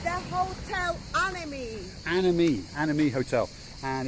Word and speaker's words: Anemi: how do you say it it's the hotel anime anime anime hotel and it's had a bit